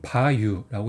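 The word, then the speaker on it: 馬油: 그래서 이거는 바유라고 있고, 그 다음에 스킨 크리무라고 있습니다. 그래서 바유가 원래는 말마 기름류인데 바유라고 읽어요. 근데 이 한자로 합쳐지면 바유라고 이렇게 읽어요. 길게 읽어요.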